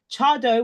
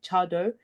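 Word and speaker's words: Tse Addo: the right hand side the one that's spelled TS e a d d o chado is I know the pronunciation doesn't quite match up to how it's said but has how it's written that is now kind of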